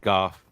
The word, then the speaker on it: Goff: I have Jordan love 13 I have Jared goof 12 I have Tua 11 I have the